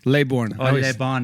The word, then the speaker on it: Laybourn: say your last name lay bond lay born if you're talking to the bone like simon le bon from if it's